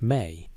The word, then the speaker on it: ME: The concept is called ME, pronounced May.